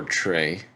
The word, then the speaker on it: Trea: Is it Trey or Trey? Trey. Well, TREA. I know how to spell it. I'm talking about how to pronounce it.